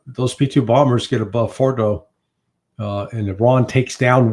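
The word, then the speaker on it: Fordow: Is that how you pronounce it? Fordo.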